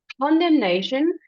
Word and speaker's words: condemnation: So perilous, condemnation, it will help if you hit the first syllable. It will help you kind of flow into that condemnation.